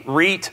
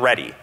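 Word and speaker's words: Rete: on this one too I have heard this pronounce re Reit R and ready and it is I I say Reit it's a Latin word if anybody out there speaks Latin tell me how it's supposed to be pronounced because I I I just picked REI but it's probably ready but I doesn't matter so um so this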